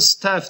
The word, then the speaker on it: staff: Şu A harfiyle yazılırsa staff diye okunur.